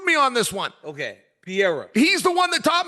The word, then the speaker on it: Pereira: tell me his name Pier just like George St Pierre but then add a a pier uh and that's exactly what Kenny floring told me Kenny screwed me on this one okay Pier he's the one that